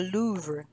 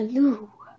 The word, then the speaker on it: Louvre: Yeah, the Louvre.